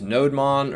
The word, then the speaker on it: nodemon: the same thing like a lot of people will use nodemon or no demon i depend there's an entire subreddit i believe on how to pronounce that but i think you know most people say nodemon but we're going to